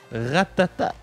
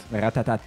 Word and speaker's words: Ratatat: aujourd'hui on parle de Ratatat Ratatat yes c'est mon album oui commencer est-ce que c'est ratata ou Ratatat Ratatat ok selon Wikipédia à